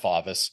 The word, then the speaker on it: Favis: My last name is pronounced Favis.